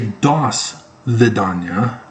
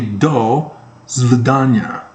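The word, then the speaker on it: до свидания: Hasta la vista, I always say dos vidania. Did anybody catch that? Anybody bothered to recognize? No. It's actually do svidanya. Wrong syllable on the wrong palabolus, or whatever that little thingy is.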